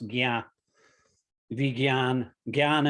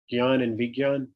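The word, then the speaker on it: vijñāna: it's actually god and vegan jn is pronounced vegan gian and vigyan yeah okay um so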